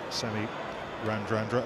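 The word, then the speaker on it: Semi Radradra: We call him Semi-Randrandra because it's his name. And if you asked him how he pronounced his name, that's what he'd tell you as well. It's a Fijian thing.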